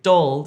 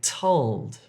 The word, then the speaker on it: told: Don't say dold if you're trying to say told.